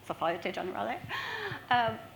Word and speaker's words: Société Générale: Our other founding members are from HSBC, Standard Charter, Bloomberg, Morgan Stanley, Société Générale, although I've been told I don't pronounce that correctly. Société Générale.